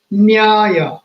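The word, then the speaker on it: न्याय: Nyaya, logic. Nyaya has four letters again, one vowel and three consonants. Naya, aya. Naya, aya. But you cannot pronounce it as Naya, aya, and it does not become Nyaya.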